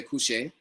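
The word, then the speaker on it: kushe: So some people say couche, K-U-S-H-E.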